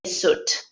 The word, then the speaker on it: suit: former clothes for so the correct pronunciation is you have to forget about the letter I just say suit right here agree so